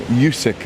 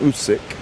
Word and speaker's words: Usyk: yesterday Tyson Fury and Alexander usk um yusk as I've called him and I should be calling him usk um people getting very